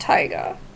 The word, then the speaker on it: taiga: Oh, so this is pronounced Taiga. Before I didn't know how to pronounce it. It's, Taiga, I think. Yeah. Like, I kind of, like, spelled it out. You can't see it from here, but, like, T-I-E, like, a tie that you, like a, you know, you could wear. And then, Ga.